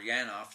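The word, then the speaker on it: Janov: broadcast uh and also you can get janoff's or yanoff depending on how you want to pronounce it um if you want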